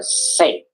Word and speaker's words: St.: So the st part uh it's actually short for saint. So yeah, St. Paul's Cathedral. Actually, uh let's just write down in the chat box for you guys. Okay, it's not ST, but we it's shortened for saint.